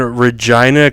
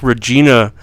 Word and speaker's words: Regina: They are in Regina, Canada. And I thought it'd be like Regina, but they're pronouncing it like vagina. Regina.